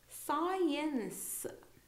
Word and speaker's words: science: in most cases uh just the S is sounded out not the C so we don't say SK we say scen science okay so here we